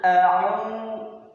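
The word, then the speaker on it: أَعُوذُ: Qul a'udzu. a'u, a'u. Bunyinya ong. Hurufnya adalah ain, bunyinya ong. Jadi tidak dibaca qul a'udzu, bukan au, tidak, tetapi a'u.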